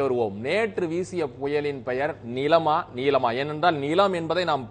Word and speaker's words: Nilam: அதன் அடிப்படையில் தான் பெயர்களை உச்சரிக்க வேண்டும் என்று அவர்கள் அறிவுறுத்தியிருக்கிறார்கள். நிச்சயமாக நர்மதா, நீங்கள் சொல்வதை இது பார்த்தால் நீலம் நீலம் என்று இருந்தால் அது NEELAM என்று அந்த ஸ்பெல்லிங் இருக்க வேண்டும், ஆங்கில உச்சரிப்பு.